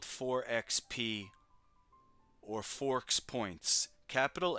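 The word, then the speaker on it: FoRPoints: And when you pronounce it, it's Forks Points or Forks Points if you say it fast.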